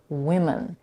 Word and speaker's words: women: and the plural form, women. The difference in pronunciation is only in the vowel in the first syllable of both words.